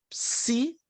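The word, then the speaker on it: ψῖ: Temos a letra Psi, que parece um tridente, na maiúscula e na minúscula, né? Como na palavra psique.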